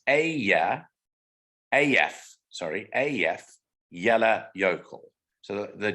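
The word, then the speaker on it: Eyjafjallajökull: pronounced phonetically it's easy so this is actually pronounced a yeah af sorry af yellow yokel so the j is yeah in in iceland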